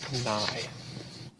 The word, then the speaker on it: Nye: That's pronounced nigh. I ask unanimous consent to waive the mandatorium call with respect to the Nye nomination.